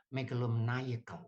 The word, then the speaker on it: megalomaniacal: Kalau ini saya beri sifat, ini bacanya bukan mania tapi menaya. Jadi megalomaniacal. Nah, saya bacanya kalau enggak pakai ini, cuman ini enggak ada, cuman bacanya megalomania.